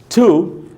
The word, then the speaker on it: to: ये TO जो word होता है, TO के दो उच्चारण हो सकते हैं। एक स्ट्रॉन्ग साउंड होता है उसका, एक वीक साउंड होता है। जो TO का जो वीक साउंड होता है उसको तो सिर्फ ट बोल सकते हैं आप, ठ।